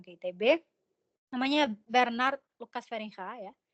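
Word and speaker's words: Feringa: ITB namanya Bernard Lukas feringha ya kalau di Belanda tuh G bacanya He gitu ya J beliau namanya feringha seperti ini beliau waktu itu memberikan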